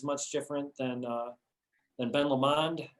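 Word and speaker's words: Ben Lomond: different than uh than ben lemond at the risk of pronouncing that the wrong way you did amen that was fancy that was a fancy way it sounded french instead of scottish but but we know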